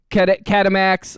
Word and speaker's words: Catamax: Catamax. Like, I'll say it like ketamine. Catamax. Like Betamax.